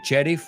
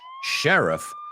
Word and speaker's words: sheriff: So, the sheriff, you say sheriff, we say sheriff of a suburban New Jersey community.